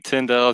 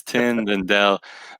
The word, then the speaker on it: Tindell: man it's so good a lot of people get my last name Tyndall twin well I'm like there's not even letters that you're pronouncing in there it's tendon Dell but yeah man I